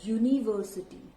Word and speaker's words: university: Do we say it university? No. We say it university. Okay. Now this U over here is pronounced as Y, not A.